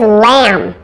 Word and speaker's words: lamb: with a silent B several other common words ending in mb where the final B is silence first there's lamb which is the animal